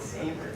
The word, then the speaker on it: Saviers: It was Saviors, but they just pronounced it Savers.